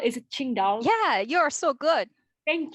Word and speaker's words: Qingdao: five books published by i'm sorry about my pronunciation qingdao is it qingdao yeah you're so good thank you qingdao publishing